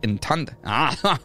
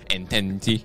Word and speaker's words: entente: across multiple fronts while isolated from its triple entente. Entente? Entente. Entente. That's what's called a triple entente. No, that's exactly how it's pronounced.